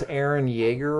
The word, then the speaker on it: Eren Yeager: Did I pronounce Eren Yeager right?